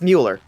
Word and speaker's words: Muller: It is spelled like Mulder, just with an L instead of a D. But it's pronounced Mueller. Like Ferris Bueller.